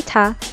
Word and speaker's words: 他: she eats in Chinese all pronounce the same top so when you say tah the listener doesn't know the gender however just like